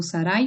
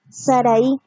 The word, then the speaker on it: Saraí: Saraí o Saray, ¿cómo es? Saraí. Saraí. Lleva tilde, sí.